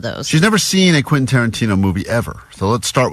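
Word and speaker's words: Quentin Tarantino: Vanessa has never seen a Quinton Tarantino movie and she's never successfully pronounced Quinton Tarantino. That's true all week as she's been talking about this prize we have. She's been saying quasa quinton. Soana. So we're like what you talking about? Quintarino still.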